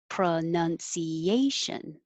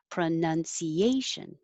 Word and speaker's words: pronunciation: that's the verb but if it's the noun pronunciation it's no longer now it's none pronoun pronunciation image jewelry it's almost